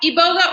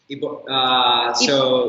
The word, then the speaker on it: iboga: you say it yeah Ebola or my book both ways okay if I were in Gabon how would I pronounce it Ebola Ebola Ebola all right so I'll